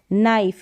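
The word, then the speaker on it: knife: तो नाइफ, wide, ride, नाइफ, यहाँ पर के जो है साइलेंट है, का नाइफ नहीं पढ़ेंगे।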